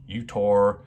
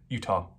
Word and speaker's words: Utah: other videos recently pronunciation and it is Utah like Utah without the r on the end so you've got for